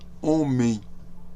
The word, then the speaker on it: homem: pronunciar a gente pronuncia homem. OK? O H está ali, mas não pronuncie o H.